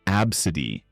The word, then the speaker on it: ABCDE: Some parents hit peak creativity or just ran out of steam, naming their kid ABCDE, pronounced absid.